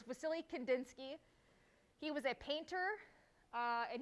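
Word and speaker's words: Wassily Kandinsky: it's filled with w sometimes you'll see it with a v it's really just based on the pronunciation of it but it's vasily kandinsky he was a painter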